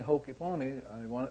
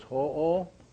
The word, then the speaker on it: Ho'oponopono: So it's ho-o. Ho-o. Not ho, like Santa Claus. Yeah, so pono, pono. So ho'o, pono, pono.